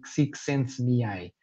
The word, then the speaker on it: Csikszentmihalyi: de pronunciar em português, mas que se pronuncia com algo parecido com Csikszentmihalyi.